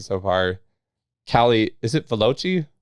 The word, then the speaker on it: Valocchi: Callie, is it Valocchi? Valocchi.